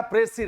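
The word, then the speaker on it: précis: সেটা হচ্ছে কি না প্রেসি writing. Firstly, we have to know what is praise, from where it's originated. The word actually is originated from French word and it is pronounced as প্রেসি।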